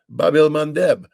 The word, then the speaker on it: Bab el-Mandeb: I mean, the Houthi have shut down the Red Sea, the Bab el-Mandeb.